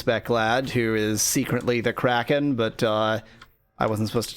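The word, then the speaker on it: Crackin': It's pronounced Kraken, says Speclad in chat, spelling it C-R-A-C-K-I-N apostrophe.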